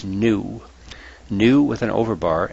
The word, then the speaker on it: nu: this is the Greek letter N which is pronounced new new with an over bar as wave number